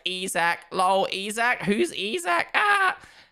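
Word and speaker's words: Isack: In French, he's called Isaac. And when I was recording it, I was like, fuck it. Let me say Isaac. One, because that's how you actually pronounce it.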